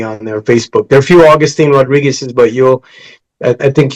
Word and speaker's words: Agustin: way it's spelled right Augustine agu I don't say Augustine because I don't like that pronunciation it's like we sing in Spanish but so it's a